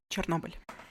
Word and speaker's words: Chernobyl: Chernobyl.